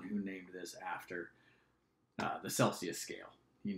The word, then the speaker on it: Celsius: this 212 if I'm Anders Celsius or Kelsey s as it's me it originally the Swedish pronunciation he called this down